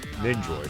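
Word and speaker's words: Nendoroid: Nindoroid. That's what they're called. That's Nindroid. Okay, that's how you pronounce it.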